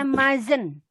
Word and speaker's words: mustn't: Bacanya mazen, ya.